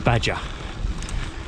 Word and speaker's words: Baja: So I've got about 50 kilometers of this down to the city of Baja, or Baja as it's phonetically pronounced, and every 100 meters